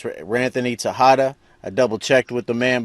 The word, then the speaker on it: Ranthony Texada: and I'm talking to Ranthony Tejada. That's the name. That's the way you pronounce his name. I know it's spelled with an X, but it's Ranthony Tejada.